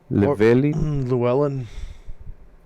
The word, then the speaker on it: Llewellyn: Llewellyn.